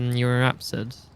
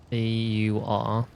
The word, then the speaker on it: Euryapsid: It was a, Eurapsid. How do you spell that? Euryapsid. They're the... well, dinosaurs, we'll say. I'm not getting anything for YRAPSID. YRAP? EURYAP. It's like a Europe, yeah.